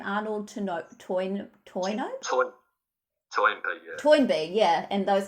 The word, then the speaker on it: Toynbee: Arnold Toynbee, yeah.